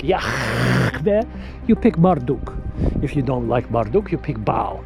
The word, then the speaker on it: Yahweh: His name is Yahweh. That's how you pronounce it. Yahweh.